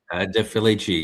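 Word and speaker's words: De Felici: Is that how you pronounce his name? Defilichi. Yeah. Yeah. Deafi.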